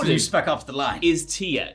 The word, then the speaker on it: Tyr: off the line is Tia if you have the subtitles on the way it's written is just tyr without the accent on the Y I think it is